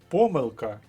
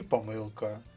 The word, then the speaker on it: помилка: наголосу в українській мові може бути ще й подвійний наголос наприклад помилка і помилка мабуть і мабуть апостроф і апостроф деякі слова можуть вас загнати